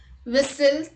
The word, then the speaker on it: whistle: T is not pronounced in these common words. Let's look at the examples. Castle, Christmas, fasten, listen, often, whistle, thistle, bustle, hasten and rapport.